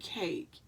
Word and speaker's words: cake: we have the word cake and so you asked them to say each letter they're not they shouldn't be able to try to pronounce that e because they understand that it's silent you've already given them